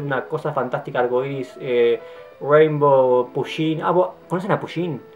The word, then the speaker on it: Pusheen: Se escribe P-U-S-H-E-E-N, se pronuncia Pusheen, se escribe Pusheen.